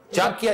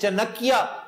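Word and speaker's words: चाणक्य: चांकिया जिसे चनकिया कहकर miss pronounce करते हैं लोग, चनकिया नहीं है, चांकिया कोतलिया।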